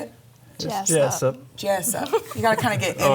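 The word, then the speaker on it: Jesup: Jessup. Jessup. You got to kind of get in there with it, you know? I think It's Jesus with a P.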